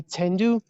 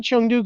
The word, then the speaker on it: Chengdu: interesting little thing so the local pronunciation i've heard a lot of people say tendu tendu yeah tendu yeah yeah so um yeah but i say chengdu because i i speak mandarin i don't i don't